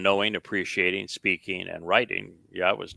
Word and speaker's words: Yahweh: It's the Yah and the Ah are from the verb haya, and the O sound comes from Torah.